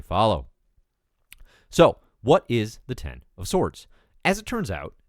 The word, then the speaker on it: X of Swords: x-men comics may follow so what is the 10 of sorts as it turns out X of swords pronounced a no swords which is a reference